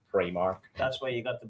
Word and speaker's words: Primark: Pronounced Primark. I'm just saying, it's pronounced Primark.